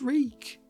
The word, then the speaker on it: Reek: My name is Reek. He had to remember his name. It rhymes with freak.